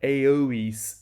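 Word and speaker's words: Eois: a couple of things that aoes is three different syllables ER so shortly air and then long o and long R is means Eastern and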